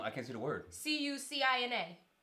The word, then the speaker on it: Cucina: can't see the word c-u-c-i-n-a cochina Cucina okay I wasn't sure I didn't want to say it wrong and be like susina um and then you